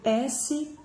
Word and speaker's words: Schein: Se vocês quiserem pesquisar, Schein se escreve S-C-H-E-I-N, Schein.